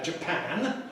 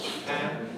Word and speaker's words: Japan: So we see this if we compare Japan with the adjective Japanese. Japanese. Notice the vowels. A in Japan, where pan is stressed, but in Japanese, where the first syllable, the Jap is stressed.